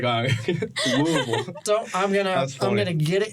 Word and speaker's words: Louisville: was being right about it, and you said Louisville, and I just looked at Hayden. I heard you pronounce it right. And before I started speaking, I was like, Louisville.